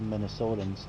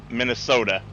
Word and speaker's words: Minnesota: i say your state minnesota what's the t right yeah so it's not minnesota oh you're saying it like a d we all do that's